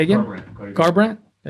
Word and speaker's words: Garbrandt: I don't want to Yeah, that mispronounce narrows his it name. down. Cody Corbin. Say again. Garbrandt.